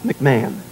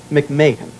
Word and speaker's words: McMahon: to play your dadie only only you would pronounce Ed's name absolutely correctly it is not MC manah McMahan McMahan I love it I absolutely love being